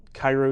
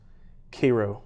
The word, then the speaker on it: Cairo: I preach for the Cairo Church of Christ every for Sunday they're a small congregation and well I miss that I said it wrong it's Cairo Church of Christ so I preach for